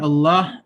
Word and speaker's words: Allah: but anyway so uh if the lamb is in the word allah or allah then the lamb is going to be pronounced heavy allah allahumma we'll go